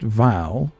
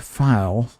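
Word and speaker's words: Phial: it's spelled with a pH but it's still pronounced vow not file uh even though that's that's become common these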